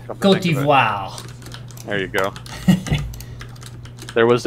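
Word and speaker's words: Côte d'Ivoire: or Cote d'Ivoire, I'm not sure on the pronunciation. Cote d'Ivoire.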